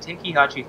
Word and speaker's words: Tenkaichi: this is known as dragon ball z budokai Tenkaichi 3 whoa you pronounced it properly oh here we go 10